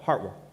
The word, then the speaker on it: Hartwell: and hart county and if you're from here you call it heartwarm it can be one syllable um and now it's